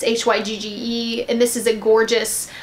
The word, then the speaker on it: Hygge: It's Hygge, and this is a gorgeous light powdery blue with a really pretty copper flash of shimmer that's in here.